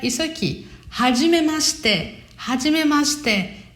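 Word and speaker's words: はじめまして: Esse shite, mas se pronuncia muito em japonês como se fosse shite, como se não tivesse o i, né? Fica hajimemashite. Hajimemashite.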